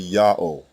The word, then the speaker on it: Ya'oh: the first letter yah the second letter ha is silent it assumes the sound of the previous vowel and closes the first syllable the third letter W